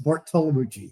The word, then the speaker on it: Bartolomucci: How do you pronounce Bartolomucci? It's easy to butcher, but it's Bartolomucci, yes.